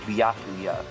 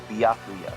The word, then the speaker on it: Byakuya: If I could assist with pronunciation real quick, his first name is pronounced Byakuya. Byakuya.